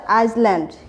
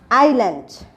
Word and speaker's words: island: তোমরা কিন্তু সবাই বলবে যে এটা হচ্ছে আইসল্যান্ড, কিন্তু এর সঠিক প্রোনাউন্সিয়েশন কি হবে? আইল্যান্ড। এটা কিন্তু সবাই মনে রাখবে। আমরা কিন্তু অনেকেই বলে থাকি এই ওয়ার্ডটি দেখলে যে ISLAND, আইসল্যান্ড, কিন্তু আইসল্যান্ড সঠিক প্রোনাউন্সিয়েশন হবে না, সঠিক প্রোনাউন্সিয়েশন হবে আইল্যান্ড।